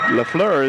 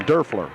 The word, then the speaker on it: Derfler: here shot by uh LaFleur is good defleur derfler it's actually derfler okay if it's spelled